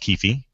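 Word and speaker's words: Kifi: to suggest a web service / app called keefy it is pronounced keefy a bit spelled ki fi i says this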